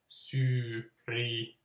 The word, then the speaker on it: Syyria: So then it should be se suomalainen, you know, syyria, syyrialainen. Is the A its own syllable? So just like one single A. Syyria. Yeah, it has to be.